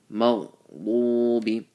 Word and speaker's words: مغضوب: And mag, some people what they do when they say this, they say magha, they bounce the ghain. That's wrong. So make sure you don't bounce on the ghain. Maghdubi, full mouth.